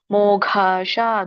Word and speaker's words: ಮೋಘಾಶ: ಮೋಘಾಶ ದೊಡ್ಡ ಘ ಇದೆ.